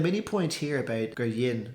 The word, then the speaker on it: rinne: through it, but yeah, the past tense is just yin, yin. It'd almost be like, if you used to spell it phonetically, like DHIN. So instead of rinne, right, which you'd hear elsewhere, you get yin, yin she.